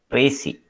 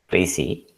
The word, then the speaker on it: précis: not an english word it is actually a french word you can see the